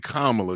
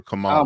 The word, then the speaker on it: Kamala: Was it is it Kamla or or Kamala? Kamla. It's Kamla. Yeah. Okay. I was saying it right.